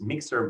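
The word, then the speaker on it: MixEHR: that's basically looking at this mixer model. It's spelled MIX EHR for electronic health records.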